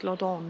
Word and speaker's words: Loddon: us about London and it's lodon isn't it it's like London that's spelled wrong should we have a